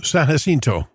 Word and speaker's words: San Jacinto: Is it pronounced Mount San Jacinto? San Jacinto? Oh, San Jacinto. San Jacinto. Okay. Well, that's another pronunciation.